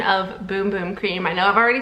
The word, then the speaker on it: Bum Bum Cream: a little PSA that this is actually pronounced boom boom cream I also originally thought it was bum bum cream but you can see